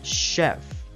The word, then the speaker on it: chef: Thì ví dụ như là chef, chef, machine, machine.